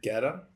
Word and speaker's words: Guetta: Guetta? U is silent.